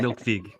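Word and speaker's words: Melkweg: of and an encore I heard it's pronounced milk V milk I might have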